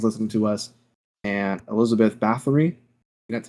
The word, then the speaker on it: Bathory: Blue Archive fans listening to us, and Elizabeth Bathory, that's how you pronounce it, in Fate Grand Order.